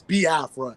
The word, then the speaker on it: Biafra: how to pronounce it some people say B Afra because they don't really you know overand the you know the pronunciation when it comes to the i e sounds but it's B Afra because even myself even